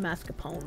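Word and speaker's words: mascarpone: of ricotta I use mascapone I know it's pronounced mascapone but I I like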